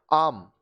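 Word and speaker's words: arm: form form अब देखिए ए Wavell है एम कंसोनेंट है तो आम आर्म नहीं होता है आम इसी तरह से ए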